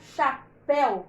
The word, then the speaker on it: chapéu: tem essa palavra chateu mas olha quando termina com u o som é fechado é igual a palavra eu então o que que a gente faz por exemplo para a palavra chapéu que existe mesmo a